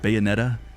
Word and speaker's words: Bayonetta: That's how you say it, Bayonetta 3 trailer.